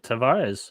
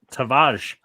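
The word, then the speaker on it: Tavares: chilling by uh uh tavarez or as as i guess his name is pronounced tawaj tavage i'm curious about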